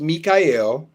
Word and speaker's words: Michael: My name is spelled Michael but pronounced Mikyel.